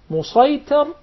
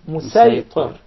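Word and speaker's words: مصيطر: with a specific dialect, the sad will be deliberately pronounced as seen. For example, when we say Musaytar, we'll recite it as Musaytar.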